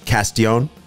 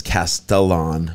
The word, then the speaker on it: Castellon: You know, when I first read it, I thought it was Castellon, and I was like, that can't be right because, you know, the two L's, it's a Spanish name.